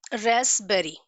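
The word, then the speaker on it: raspberry: Okay, next example रेस्पबेरी। रेस्पबेरी, यहाँ पे ये जो पी है दैट इज साइलेंट, हम इसको रेस्पबेरी नहीं प्रोनाउंस करते, we pronounce it एज रेस्पबेरी।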